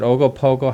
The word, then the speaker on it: Ogopogo: Now, what about the, is it Ogopogo? How do you say that? Yeah, Yeah. Ogopogo.